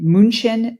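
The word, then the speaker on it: München: him Tom Schuster was born and raised in munin deutan which we pronounce it here in the United States as Munich Germany and has been living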